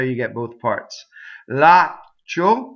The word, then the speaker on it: laccio: Laccio rhymes with sfaccio, with a nice long ah before you stop phonation, go up to the ch, and don't say it.